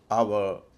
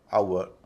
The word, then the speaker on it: HOUR: आवर, Sawar, flower, इन सब में हम व का उच्चारण करते हैं, जबकि इनका असल उच्चारण है आवर, सावर, फ्लावर।